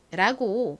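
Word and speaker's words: Vans: 무방합니다 자 그럼이 브랜드를 한번 읽어 볼게요 미국식으로는 vens라고 발음을 합니다 한번 따라해 보세요 좋습니다 근데 사실 한국에서는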